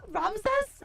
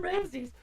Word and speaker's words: Ramsay: I was about to say Gordon Ramses. I was like, oh, it's Gordon Ramsays.